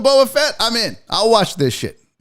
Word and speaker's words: Boba Fett: say it this guy it's not bubba buh the book of boafette i'm in i'll watch